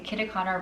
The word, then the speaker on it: Kitakata: This is the KITAKATA, sorry, I think I pronounced that incorrectly in the beginning. The KITAKATA Ramen Kit.